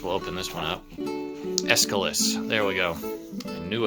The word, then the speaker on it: Aeschylus: And then we've got, I'm trying to remember how to pronounce the author of the Orestia, Achilles. I guess we'll open this one up. Aeschylus.